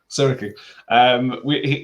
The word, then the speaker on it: Siriki: Siriki.